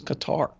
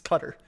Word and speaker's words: Qatar: any case I mean everybody is still mispronouncing cutter on there too so you know like those Qatar exactly it's cutter but yeah but you